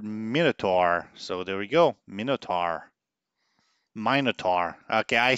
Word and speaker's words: Minotaur: so star shadow wants to know how I pronounce the word Minotaur so there we go Minotaur mine at are okay I see what you're